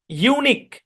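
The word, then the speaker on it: unique: এর পরে ইউ থাকবেই শব্দের শেষে কিউ এর পরে ইউ থাকবেই থাকবেই কিন্তু এটা সাইলেন্ট তাহলে এই শব্দের উচ্চারণ কি ইউনিক ইউনিক মানে কি ইউনিক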